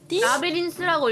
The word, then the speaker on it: Labyrinthine: 라비린딘 라비린스라고 읽으면 돼요.